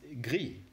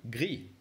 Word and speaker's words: gris: And finally, the gray color, which is gris. Again, gris. Very good. You were amazing. Now let's wrap it up again by re-pronouncing these different colors again, just to make